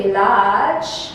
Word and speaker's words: village: You don't say village, you say village.